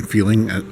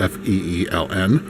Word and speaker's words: Feeln: Now, the big differentiator between Feeln, as it's pronounced, it's spelled F-E-E-L-N, Feeln and the other studios, is that its content is geared towards feel-good movies and shows.